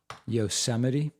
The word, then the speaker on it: Yosemite: Michigan gave us Motown, the Mustang, Oh, no, and that time you pronounced it correctly. That one was correct. Yosemite.